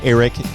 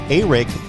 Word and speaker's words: Arik: I learned last night how to pronounce Arik Gilbert's first name. I had always called him Arik Gilbert, but of course it is with an A and then R-I-K. Arik Gilbert is what I was instructed to pronounce his name.